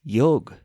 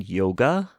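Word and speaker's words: योग: taught me the answer simply put it's yog don't you mean yoga I asked curiously n she said that's the 21st century pronunciation with us who originated it it's meant to be pronounced yog of course she was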